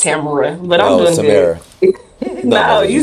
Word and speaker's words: Tamara: So, Tamara, Miss, how you doing? You always say my name wrong. It's Tamara.